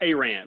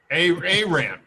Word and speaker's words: Arant: Let me introduce Alan Arant. Is that correct, Alan? Pronounced Arant, but kind of like you said, close enough. Arant.